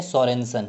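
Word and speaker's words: Sørensen: Discover अगर आपसे पूछ लिया जाए, यानी कि खोजकर्ता कौन है, आपसे ये पूछ लिया जाए, तो आप नाम बोलेंगे सोरेनसन।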